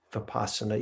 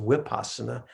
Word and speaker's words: vipassana: vipassana with a v vipassana you by the way if you ever hear it pronounced wipasana that that's just a burmese accent uh they pronounce the v's with a a w uh what they call